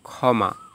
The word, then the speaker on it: ক্ষমা: শব্দের শুরুতে যদি যুক্তক্ষ থাকে তাহলে উচ্চারণ হবে খ, যেমন ক্ষমা।